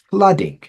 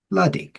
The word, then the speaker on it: flooding: go nice that's fantastic so flooding so yeah this is a big difference between our accents um for you guys in the South you've got like what 12 vowl sounds and in the north we pretty much got 11 because there's one of them we don't use that I had to learn when I became a teacher and that is a flooding flooding me flooding FL